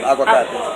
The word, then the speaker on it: aguacate: Aguacate.